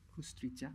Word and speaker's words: Kusturica: So I might not get the pronunciation. Is it Emil Kusturica?